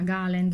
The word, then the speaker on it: garland: ho fatto vedere prima galenda scusate si pronuncia così pare che la r non si pronunci inglese niente gal e quindi questi qua